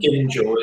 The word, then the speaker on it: Gingell: And how do you say that Gingale or Gingale? Gingell. I think it's something Gingell. Gingell is the way families say it, yeah.